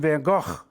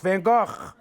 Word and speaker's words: van Gogh: was born in Antwerp she says to say it like this Vincent van Gogh and she coughs as she says it van Gogh van Gogh but Miss cook says